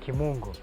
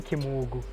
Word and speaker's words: Kimungu: My second name is Kimungu. Kimungu. But I think there's a difference with where you pronounce it. Yeah. In Kikuyu, Yeah. they say Kimugu.